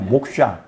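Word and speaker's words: मोक्ष: 우리가 해탈이라는 건 산스크리트어로 목샤라 그래요. 아, 이게 또 목사하고 좀 발음이 비슷하네. 그런 뜻이 아니라 목샤.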